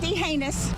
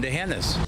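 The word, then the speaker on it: D'Hanis: Not deh heinous. A common mistake but wrong. And remember there's no anus in dehanis.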